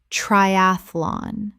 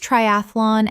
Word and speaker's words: triathlon: Common mispronunciation, triathlon. Correct pronunciation, triathlon. Three syllables in natural speech. The middle syllable collapses. Example, she completed her first triathlon at the age of